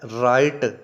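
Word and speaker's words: write: दोस्तों राइट दुरुस्त, और जो इसका सेकंड पार्ट है राइट लिखना, डब्ल्यू साइलेंट है जैसा आप जानते हैं।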